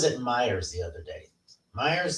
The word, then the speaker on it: Myer: Myers, that I pronounce it? Yeah. I was saying, I want to say Majors. No, Myers.